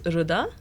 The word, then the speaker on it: Rida: So it's pronounced as Rida. It's Rida. like Rinda. Oops.